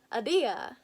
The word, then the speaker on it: Ahdieh: The A in apple plus Ahdieh. Ahdieh? All with a little bit of Persian oomph behind it. Ahdieh.